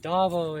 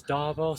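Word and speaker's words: ዳቦ: So Dabo is how you say bread in Amharic, the language they speak in Ethiopia, the language that the Emperor Haile Selassie Rastafari would have used. It's Dabo.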